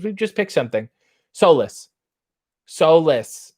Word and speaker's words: Solis: rj did you find out with the proper pronunciation of solace's yes and i just talked to them today because we've just picked something solus solis not solace soulless s-o-l-i-s i think it's a